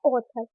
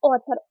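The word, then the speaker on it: author: ओ के रूप में जैसे एग्जांपल है ऑथर सबसे पहले क्या आ रहा है ए और उसके बाद क्या रहा है यू तो आप क्या पढ़ेंगे ऑथर ओ के रूप में प्रोनाउंस करेंगे ए को पढ़ेंगे ओ और यू टी एथ को पढ़ेंगे था और ई आर को पढ़ेंगे आ तो मतलब क्या हो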